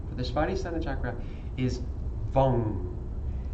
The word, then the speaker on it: Vam: But the sound for the whole chakra, for the Svadhisthana Chakra, is Vam. It's spelled V-A-M, but it's pronounced like lung, but with a V, so Vam.